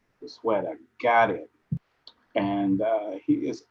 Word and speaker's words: Goizueta: So it's just pronounced Goizueta. Goizueta, got it.